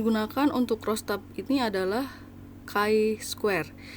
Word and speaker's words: chi: untuk rostab ini adalah Kai Square Iya tulisannya memang Ci tapi dibacanya Kai karena ini adalah huruf latin atau Bahasa Indonesianya adalah